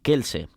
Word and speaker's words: Kelse: este programa se llamaba Kelse, escrito con C, lo vemos, lo podemos ver escrito con C, pero que se pronuncia como con una K, ¿no?